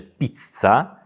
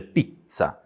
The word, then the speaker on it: pizza: nawet pizza w Polsce podwójne litery są zawsze źle wymawiane ponieważ w polskim języku że dwa razy wymawia tę literę czyli mówi się pizza a we włoszek to jest pizza gdy jest podwój litera to we włoskim języku my po prostu wzmacniamy tą literę można powiedzieć że tak